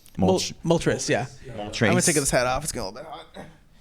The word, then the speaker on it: Moltres: Not Moltor. Moltres.